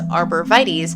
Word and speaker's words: arborvitae: The types of trees and shrubs known as arborvitaes predictably get their name from the Latin term arbor vitae. And yes, according to both Merriam-Webster and the OED, the tree's name is pronounced arborvitae in English.